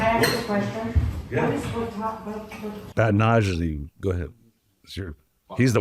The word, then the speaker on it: batonnage: Batonnage.